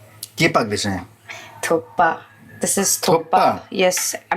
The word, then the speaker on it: Thukpa: एट the same time it's नॉट थुक्का इट्स थुक पा थुक्का it's spelling वैसा है ना बट प्रोनाउंसिएशन है वो वो थोड़ा सा वैसा है ना थुप्पा है ना मतलब के जो है वो साइलेंट है ना नहीं इट्स थुप्पा ओनली